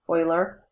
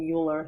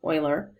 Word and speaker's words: Euler: This is pronounced Euler. Lots of people mistakenly call him Euler. He's not Euler, he's Euler.